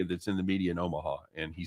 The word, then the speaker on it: Omaha: by the way uh you didn't pronounce that correctly it's omaha oh thank you very much